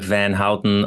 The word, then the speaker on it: Filip Van Houte: I don't know, I'm butchering it, but Filip Van Houte. Just pronounce it like people know it, like it's written like the last name of Milhouse, and they say like Van Houten or Houten in The Simpsons.